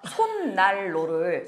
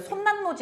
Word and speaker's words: 손난로: 암기해야 돼 그러니까 엉뚱하게 평상시에 누가 손날로를 손난로 이렇게 발음해요 근데 시험만 가면 엉뚱하게 이건 손난로지 여선생님 이런 소리를 하고 있어요 그건 애들이 그냥